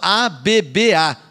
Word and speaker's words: Abba: Então ela fala A-B-B-A, ou seja, Abba. As versões mais novas, por causa da língua portuguesa, tiraram um B. A pronúncia é a mesma, Abba também. Tá?